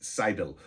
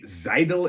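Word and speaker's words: Seidl: by the name of Alex sidel it might be zidal it's spelled s e i d l um and when it comes to German s often has a z sound so I'm I'm not 100% certain on that I believe it is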